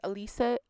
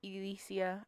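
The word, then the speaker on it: Elyssia: zero so this is élisa élisa I believe is how you pronounce her name but it is spelled e ly s si a super interesting spelling I actually really like it I believe it is pronounced Alysia Owen she's been missing since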